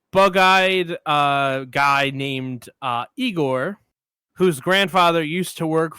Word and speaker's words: Igor: um the hunchback bugeyed uh guy named uh Igor whose grandfather used to work for Victor. But because Victor, sorry, because Frederick is pronouncing his name Frankenstein, he says it's pronounced Igore.